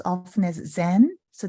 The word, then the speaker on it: Zen: we pronounce often as Zen so that's the Japanese way of pronouncing mindfulness Chinese ways Chen Korean